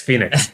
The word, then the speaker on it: FENIX: It's spelled FENIX, Phoenix.